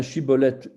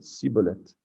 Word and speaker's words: Shibboleth: Ils lui disaient alors, eh bien, dis Shibboleth. Et il disait Siboleth, car il ne pouvait pas bien prononcer.